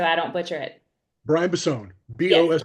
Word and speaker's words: Bossone: BOS, like Boss One. That's what I was about to say. So that's what it reads in my head, and I knew that wasn't the correct way to say it.